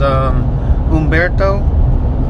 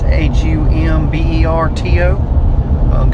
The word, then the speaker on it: Humberto: I believe was Umberto. I think is how you would pronounce it. It's Humberto.